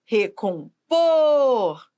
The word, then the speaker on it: recompor: Então veja recompor recompor veja o por é a sílaba tônica Por que que é a sílaba tônica porque é a sílaba que manda na palavra ó recompor por é a sílaba